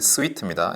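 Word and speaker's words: suite: 그다음에 스트라고 하는게 어 발음도 주의해야 됩니다 슈트가 아니고이 스위트입니다 이거는 이제 피아노 곡들을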